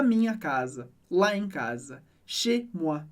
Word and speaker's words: chez: Chez moi. E chez, C-H-E-Z, a gente vai falar chez, porque o EZ do final sempre soa como E, significa outras coisas em diferentes contextos, mas aqui ele significa casa.